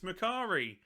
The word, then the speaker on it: Makari: Hey, I pronounced it right. Get in. It's Makari.